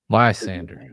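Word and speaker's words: Lysandre: Lysander. Okay. Yeah, it took me a minute. I loved it. I think it makes all of the sense in the world. I was happy to actually see Lysander return.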